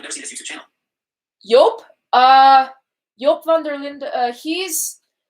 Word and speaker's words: Jop: So in English it would be pronounced Jop, or a lot of voiceovers would pronounce it as Jop. But in Dutch it's pronounced Joop. And I always joke around with him and say that his name is Joop, but it's actually not.